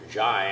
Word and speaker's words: Jai: All right, are you Jai Kessinger? Yes, sir, Your Honor. All right, then that's the correct name to pronounce, the way to pronounce that first name?